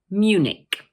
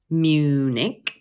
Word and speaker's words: Munich: Also notice that the CH at the end of the word is pronounced like a K. So once again, we say Munich, Munich.